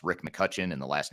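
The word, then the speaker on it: McCutcheon: so there's an e in there that's silent but it's McCutchen but with an e in there that makes it sound like which is how I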